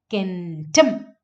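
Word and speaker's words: centum: Okay, so the stress is actually in kentum. Stress is on the second syllable. ഇവിടെയാണ് stress വരുന്നത്. കെൻറ്റം ടം എന്ന് പറയുന്നതിലാണ് stress വരുന്നത്. So the stress is on the second syllable, tum.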